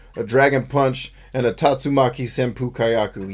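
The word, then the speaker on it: Tatsumaki Senpukyaku: dragon punch and a tatsumaki senpukayaku yes that's how you say the word even though that's not how they say it you know it's tatsumaki right even though that's not what they say in the game that's the words at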